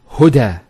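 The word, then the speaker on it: هدى: Now this is not actually a ya, it's an alif. It's called an alif maqsura, and it's exactly like an alif, the way it's pronounced. It's like a ya without the 2 dots. So we say huda. There's the elongation as well, because the fatha followed by an alif. If this wasn't there, it will be huda, but huda with the alif.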